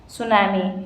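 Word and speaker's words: tsunami: हो गया जापानी जापानीज सुनामी इसमें प साइलेंट होता है क्वेश्चन नंबर 47 निम्नलिखित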